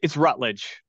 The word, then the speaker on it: Routledge: mention that or yeah it's Rutledge okay sorry or some people pronounce the root I'm sorry that maybe